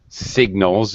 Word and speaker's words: signals: sky a stop sign signals is very much related to that word but here we do pronounce the g yes it's the same